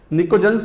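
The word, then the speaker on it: pnictogens: निकोजेंस में जैसा कि आप जानते हो, ये कौन सा, नाइट्रोजन फैमिली की बात कर रहे हैं, निकोजेंस बोलते हैं, टी साइलेंट है।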